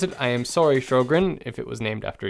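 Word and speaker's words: Sjögren's: certain medical conditions there's one in particular called fro grens it's really hard to pronounce it I looks like some other language when you actually see the word on paper if I mispronounce it I am sorry Sjogren's if it was named after you well what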